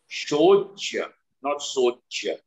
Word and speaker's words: Ashochan: So therefore, you have to be very clear with your pronunciations. Shocha, not Socha. Okay? Shocha. Ashocha. Ashocha means those who are not worthy of grief.